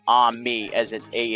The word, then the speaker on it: ami: It's pronounced ami as in a h m e as an abbreviation for Amazon machine.